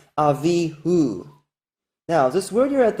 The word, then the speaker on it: Avihu: In Avihu, everyone who knows Hebrew knows that this vowel right here is pronounced as U. It's got a dot inside it, showing it's a vowel letter U. It's not a consonantal vowel. And even if you take away all the vowel points, all Jews who know Hebrew can tell you in Avihu, that's an U because it comes from the word Hu, which has an U in it.